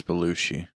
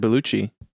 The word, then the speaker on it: Bellucci: your name wrong what i don't think it's belushi i said bellucci oh okay sorry i